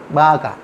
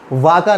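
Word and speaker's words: vaca: कहते हैं, क्योंकि ये बी की ही तरह प्रोनाउंस करता है, थोड़ा सा हल्के उसमें टोन में। जैसे वी, बाका, बाका, वाका नहीं, बाका, बाका, बाका मतलब काऊ, गाय, ठीक है।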